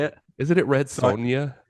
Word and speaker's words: Red Sonja: Barbarian and Conan the Destroyer he is in red Sanja Raw Deal The Running Man Predator did you say Red Sonja yeah is that not how you say it isn't it red Sonia it's Sonia is it Sonia did I did I spell